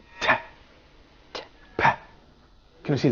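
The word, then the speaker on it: تاء: It's pronounced like a clear frontal English ta, but unlike ta in English, no aspiration in pronouncing it.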